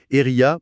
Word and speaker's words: Airia: Nous tenons à remercier notre sponsor, Eria, prononcé AIRIA, de rendre l'analyse d'aujourd'hui possible.